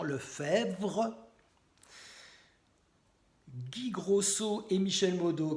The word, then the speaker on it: Lefebvre: super gendarmes Christian marin Jean Lefebvre avec BVRE donc c'est pas facile à prononcer Jean le faire Guy Grosso et Michel